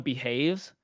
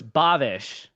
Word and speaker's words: Bhavesh: It's someone that I like in the chat, and I called him Behaves, but like I was like, oh my gosh, I've been saying it wrong. And then once I saw his profile, so it's Bhavesh.